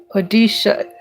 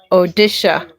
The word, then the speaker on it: Odisha: Odisha. I hope I'm pronouncing it right. Odisha.